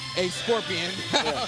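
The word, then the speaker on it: Escorpión: I'm like, I looked at I said, "Oh, that's his nickname in in Spanish. It's pronounced a scorpion."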